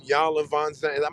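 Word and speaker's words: Iyanla Vanzant: So anything we know about marriage, you got all these in Yanla Von Zandt. That's how you say her name. In Yanla fix my life. Yeah, You got you Anyala, Anyala. Ayanla.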